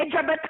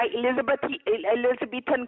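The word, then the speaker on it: Elizabethan: एलिजाबेथ collar नहीं होता, एलिजाबेथन collar होता है।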